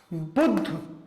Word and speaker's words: बुद्ध: जैसे उच्चारण करेंगे बुद्ध, तो ध बाद में उच्चारित हो रहा है, अर्थात वह पूरा है, उसमें अ का उच्चारण हो रहा है, जैसे कि बुद्ध, शुद्ध। ठीक, तो यहां क्या है?